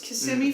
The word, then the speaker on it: Kissimmee: from kissimmee florida uh not kissing me a lot of people will say it wrong it's kissimmee florida uh you don't need